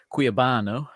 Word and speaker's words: Cuiabano: Yeah, we'll move on to just obviously Cuiabano, as we say it correctly, apparently.